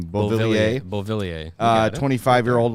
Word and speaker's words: Beauvillier: Beauvillier.